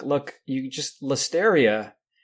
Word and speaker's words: Listeria: like look you just listeria rhymes with hysteria so if we could